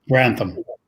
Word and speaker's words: Grantham: next point, and that Jeremy, how do you pronounce his last name? Grantham.